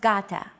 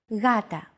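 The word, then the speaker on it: γάτα: word Gata meaning cat this is usually romanized with an initial G letter but it is no pronounced Gata the first consonant is softer Gata watching contemporary videos such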